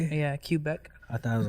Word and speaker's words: Quebec: Yeah, Quebec.